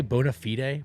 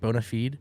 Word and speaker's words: bona fide: it details details um is bona fide are you supposed to say Bonafide Bona feed no it's bona fide all right that's neither